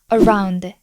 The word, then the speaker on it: around: 단어들 통해서 학습해 볼게요 around around around around 이렇게 발음하지 않죠 around around 맨 앞에가 슈아 발음 기호이기 때문에 힘없이 떨어지듯이 발음해 주시면 돼요 두 번째는 공격하다 뜻의